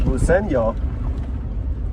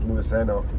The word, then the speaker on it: Luiseño: I think it's Luiseño. Not Luiseno.